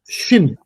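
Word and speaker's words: שׁ: 자 , 신 (Shin) 은 쉬 ( SH) 발음 입니다 .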